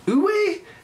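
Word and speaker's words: Uwe: very good uh uh ooh a without the y ooh a i thought the w had a v sound on it ooey that's how you say it that's how i said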